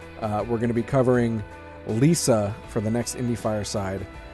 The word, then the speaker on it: LISA: We're going to be covering Lisa for the next Indie Fireside.